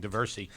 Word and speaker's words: Diversey: I'm not sure how well I did from North Philadelphia pronouncing Diversey. Oh, you got it right.